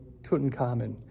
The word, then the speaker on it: Tutankhamun: We pronounce it Tutankhamun.